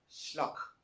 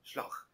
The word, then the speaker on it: Slough: and they said, I went through to 4212 Sluck. I said, Sluck, right. England, Sluck, yeah, right. How do you spell that? Oh, it's Slough. No, Slough.